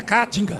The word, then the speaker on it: Caatinga: Caatinga. Isso. Você fala Caatinga, você vai achar que tem boi morto lá. Não, as boizinhas tá tudo vivo. Eu tô vendo. Então, é Caatinga. Isso.